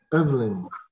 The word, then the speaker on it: Evelyn: I prefer to be called Evelyn. Evelyn. Yes, right. Please. Evelyn with a stress on the E.